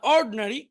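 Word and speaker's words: ordinary: অশিক্ষিত ইন্টেলিজেন্ট বুদ্ধিমান অড এখানে আইটা উচ্চারণ হবে না অর্ডিনারি সাধারণ এই শব্দগুলো এখন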